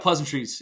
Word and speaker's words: Pleasantries: I think it's just look up Pleasantries and you'll find it. It's no one knows how to say it. It's pleasant, R-I-E-S. It's a noun. It's a plural noun.